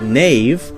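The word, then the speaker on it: knave: in English were pronounced a word like Nave k-n-a-v-e would have been pronounced something like kanave canave now we have a silent k so we don't say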